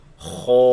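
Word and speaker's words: خ: So the heavy sound, the sound is trapped in the mouth, producing an echo, such as pronouncing this one heavy letter, Kho, produces an echo in the mouth.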